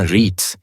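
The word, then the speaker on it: REITs: real estate investment trust या आरआईआईटी जिसका उच्चारण रीट्स यह वे कंपनियां हैं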